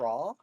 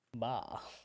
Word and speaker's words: Ba: So that Raw? Ba, the bee, Oh, Ba. Ba, not Ra, Also a bird?